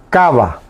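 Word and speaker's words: káva: Cava, con acento en la primera A, la que está pegado a la que. O sea, la K de kilo. Cava, acento ortográfico.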